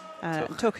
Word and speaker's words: Tough: And Tuch. I think I've said to you before, my children went to primary school in Tuch. Tuch is spelled Tough, so they have their T-shirts.